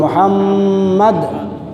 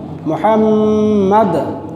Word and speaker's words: মুহাম্মদ: এই মুহাম্মদ যদি উচ্চারণ করতে হয় তাহলে ঠোঁটে ঠোঁটে চুমা দিতে হয়। কি দিতে হয়? ঠোঁটে ঠোঁটে চুম্বন দিতে হয়, আর না হয় নবীর নাম উচ্চারণ করা সম্ভব না।